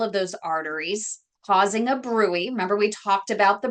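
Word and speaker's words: bruit: up in all of those arteries causing a brewery remember we talked about the brwy spelled brute BR rui T but pronounced Brewery but they're really going to be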